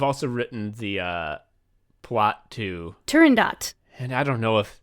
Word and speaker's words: Turandot: Okay, I was about to be like, is this T at the end of fucking Silent T? It's Turandot. Oh my god. And here's about that highbrow shit. Like, you'll hear people mispronounce it all the livelong day. They will say Turandot. It's not even a French opera. Turandot would be the French pronunciation. Oh, yeah. But it's an Italian opera, and it's set in fucking, like, China.